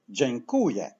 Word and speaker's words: Dziękuję: in Polish has this sound of jingle bells Jane Kuya and now as you remember word stress falls on the syllable qu so let's say from the end